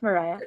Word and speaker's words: Mariah: pronounce your name wrong Mariah but I'm going to allow you to talk here sure great you did great that's how you pronounce it it's Mariah um um so um